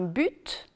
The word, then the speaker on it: but: féminin on dira courte ceci dit il y a tout de même quelques exceptions on dit par exemple un but un cursus un sens où le fils de quelqu'un de même dans certains